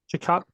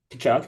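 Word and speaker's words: Tkachuk: Chakok, say his name. Matthew. Kachuk.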